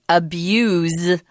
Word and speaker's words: abuse: the word when you abuse somebody you hurt them but notice that the verb has a different pronunciation you use the z sound abuse and the noun is abuse so be careful with